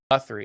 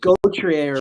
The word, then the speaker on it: Gauthier: Cutter, I think it's Guthrie. I think is how it's pronounced, but it's Oh, it's Gauthier. Gauthier.